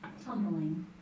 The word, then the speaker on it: tumbling: Tumbling. Tumbling. Can I stop? Okay, will you pronounce that one more time, Holly? It's Tumbling. Just two syllables in it, not tumbling, but just two syllables.